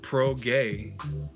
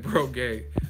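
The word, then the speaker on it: Prograis: by the way ego Regis last name is pronounced pro-gay Oh progre lol he's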